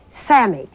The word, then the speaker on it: SAMe: It's called SAMI, and it's spelled capital S-A-M with a little E.